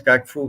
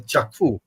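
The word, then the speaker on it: Kyaukphyu: China Myanmar economic corridor China Myanmar economic order kaifu that's how it's pronounced it's written as kakfu but it's pronounced as chakfu yes sir okay now uh on along this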